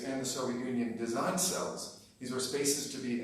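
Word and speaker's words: CELSS: And just for a shorthand, I'll pronounce that cells today for this talk.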